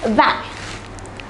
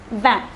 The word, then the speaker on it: vingt: For number 20, it is vingt. Notice that the T at the end is silent. For number 20, it is vingt.